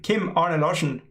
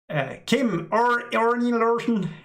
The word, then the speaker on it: Kim-Arne Larsen: I suspect people have a really hard time pronouncing my name, Kim-Arne Larsen. That's my name. But I have heard Englishmen say Kim-Arne Larsen.